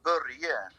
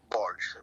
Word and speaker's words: Börje: In Sweden, we say Börje, but in America, it's more like Borge.